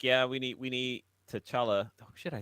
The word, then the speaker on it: T'Challa: Like, yeah, we need T'Challa.